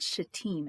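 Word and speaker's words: Shittim: of the jordan river in a place called shateem and i did look up the pronunciation um i'm glad i did because i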